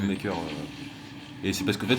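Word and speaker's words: Unmaykr: par contre ça s'écrit pas pareil, c'est une sorte de jeu de mots en anglais en fait, ça s'écrit UN et MKYR je crois, un truc comme ça. Mais bon en fait il le Ah oui, prononce oui. Unmaker.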